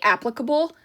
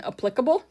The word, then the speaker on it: applicable: Um, also fun fact, when people say applicable, it's like nails on a chalkboard to me. I prefer the pronunciation applicable.